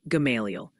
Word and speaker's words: Gamaliel: They're gently reminding us it's Dardanelle in Arkansas, and apparently the L is silent in Gamaliel, Kentucky, making it Gamaliel.